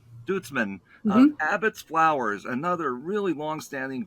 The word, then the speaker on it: Duitsman: Lisa how do you say your last name dudesman dudesman Abbotts flowers another really long-standing great operation in